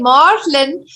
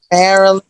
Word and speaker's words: Marlyn: And I notice I say Marlyn, so my pronunciation should be Marlyn. Yes, it's okay. Everybody pronounces the way they want. Marlyn, Marilyn.